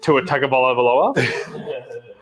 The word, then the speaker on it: Tua Tagovailoa: How did that guy say you pronounce it? Tua Tagovailoa.